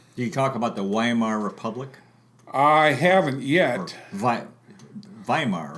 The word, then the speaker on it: Weimar: Do you talk about the Weimar Republic?